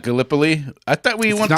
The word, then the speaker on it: Gallipoli: And apparently we still pronounce Gallipoli wrong. I got Casey corrected me on that. Oh, it's not Gallipoli?